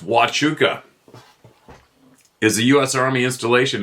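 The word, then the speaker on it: Huachuca: around huuka US Army based Sierra Vista Arizona pronounced wuka is the US Army Installation in cois County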